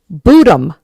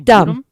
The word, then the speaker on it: Bodom: It is Lake Bodom. Really Bodom. It is. So I wrote it down. So I wrote boo and dumb. Bodom.